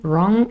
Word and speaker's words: wrong: bring now write run wrong they all start with a r sound although wrong has a silent w at first but in bring it is